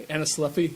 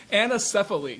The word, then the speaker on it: anencephaly: You don't have to anacephy. I'm sorry, I'm mispronouncing it. I'm getting our chair. Anacephy. Is this? How do I pronounce it? Anacephaly. So anencephaly. These kids.